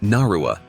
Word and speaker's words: Nadua: Cynthia Ann Parker, also known by the name Comanche Nadua, pronounced Narua, is a notable historical figure for her unique life experience.